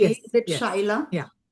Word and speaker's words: Shyla: So Shila, am I pronouncing your name correctly? Is it Shila? Yeah, correct. Shila.